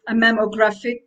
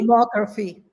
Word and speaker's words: mammography: It was a mammographic. Um, do you say it like that? Mammography? Mammography.